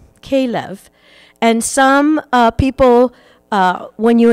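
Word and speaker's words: כלב: So the interesting thing that I discovered about this story was in Hebrew, the word dog is pronounced kelev, kelev.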